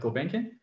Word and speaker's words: Gulbenkian: Lisbon, in Portugal, called, in Portuguese, it's called Fundação Gulbenkian, or Gulbenkian Foundation. It's by Armenian mecenas called, I think, Gulbenkian. Here it's pronounced like Gulbenkian.